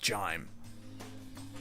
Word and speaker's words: GIM: Well, now that I think about it, that display case in the GIM entryway, it's pronounced Jime.